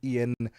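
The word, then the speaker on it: Iain: It's it's Ian. Oh, it's Ian.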